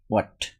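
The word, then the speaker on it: what: এইচ এর উচ্চারণ হয়েছে ছ নম্বর থেকে এইচ এর উচ্চারণ হবে না এটা হবে হোয়াট হোয়াট মানে কি থিংস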